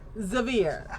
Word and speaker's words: Zavir: And then we have Nerdy Weaver who is playing and I am going to say this wrong because I never asked how it's pronounced. Zver Zir. Zavir. Zavir. Fabulous.